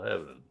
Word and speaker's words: heaven: both righteous and clear it takes a lot of training and practice to learn to say a one syllable heaven but we've got to